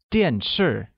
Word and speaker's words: 电视: Where 电视 means television and uses the falling tone on both A and I.